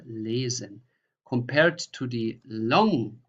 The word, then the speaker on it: lesen: So how you pronounce just one S. That is here, for example, the journey, die Reise, or lesen, or tausend. So this is a normal Z, tausend, Reise, lesen.